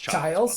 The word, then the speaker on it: Childs: name Chili's actually, versus Salazar, I think it was. Yeah. It's pronounced Childs, by the way. Sorry. Yeah. CH.